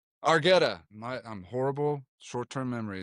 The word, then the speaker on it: Argetta: Argetta. Argetta.